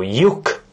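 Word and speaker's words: lyuk: It starts with L Y, and then a U, and then a K. I'm just naming these things in English just for you, because I like you. But obviously this would be Ye, U, and K. So yuk, as it is pronounced, and it means hole.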